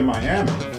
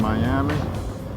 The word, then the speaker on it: Miami: to that area and we are not saying miami right in miami and this is the coleman theater in miami miami that's how they say it i think we're at